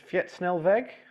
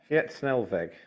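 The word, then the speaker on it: fietssnelweg: so Brian Nar says the Netherlands are building Fietnelve I'm sure my pronunciation is awful what sorry Fetnelve thank you cycle motorways, you know, always ask the audience.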